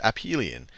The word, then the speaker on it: aphelion: and I've somehow sometimes seen it called aphelion pronounced up Hylian aphelion aphelion so it is true